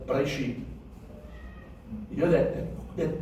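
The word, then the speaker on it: בראשית: You should actually pronunciate the word as if you don't even hear that E sound. So that you pronounce it as Bereshit.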